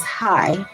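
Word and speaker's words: חי: The word in the Hebrew for life is hi, which is spelled C H A I, which is part of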